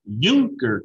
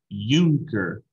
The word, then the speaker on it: Junker: r our guy so bismarck came from prussia's junker class uh say that out loud with me euchre okay not junker unker it's actually even spelled out how you pronounce